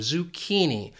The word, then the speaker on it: zucchini: That CCHI just has that key sound, zucchini, zucchini.